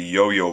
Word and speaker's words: IOIO: at the new prototype for the yo-yo board uh it's spelled Io Io it's an add-on for